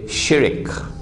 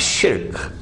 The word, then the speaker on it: shirk: The Malays say shirik. Please change your pronunciation. It's shirk.